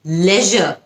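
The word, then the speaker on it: leisure: কি করতে পছন্দ করেন দুটো উচ্চারণ কিন্তু কারেক্ট আপনি যদি আমেরিকান এক্সেন্টটা ফলো করে করেন তাহলে আপনি লিজার এভাবে বলবেন আপনি যদি ব্রিটিশটা ফলো করেন আপনি তাহলে এভাবে বলবেন নাইদার নাকি নিদার আসলে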